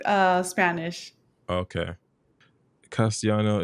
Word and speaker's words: Castellano: like uh Spanish okay castiano is the proper way to say I speak Spanish oh cool learn something